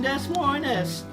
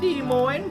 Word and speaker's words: Des Moines: Now you may hear the locals call it Des Moines. They're a religious bunch, and since S is the first letter of Satan's name, they consider it to be cursed and don't pronounce it.